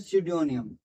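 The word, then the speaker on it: pseudonym: को हम बोलते हैं सिडोनियम। क्या बोलते हैं? सिडोनियम। क्या बोलते हैं? सिडोनियम। ठीक है? पी साइलेंट है तो सडोनियम।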